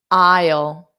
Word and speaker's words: aisle: then a dark l so this a i is pronounced as i i o i o i o and then you put the sounds together I ale and it's da ale ale ale okay I'll say it fast yes so I has the silent letter and an isle is